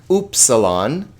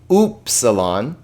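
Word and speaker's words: υ: So P, rho, sigma, tau, upsilon, not but oo. If you're a German person, you might think of the umlaut on there. Upsilon, phi, chi.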